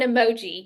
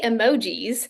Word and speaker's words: emoji: been saying it wrong if you're referring to more than one emoji you don't say emojis you still say Emoji um which I've worked